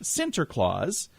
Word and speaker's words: Sinterklaas: name Santa Claus was derived from the Dutch Sinterklaas which the that's the pronunciation of Sant Saint Nicholas it says here the